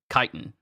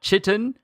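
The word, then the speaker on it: chitin: of this spider and that's how you pronounce it c h i t i n kitan not chittan not chitan kitan but as it's in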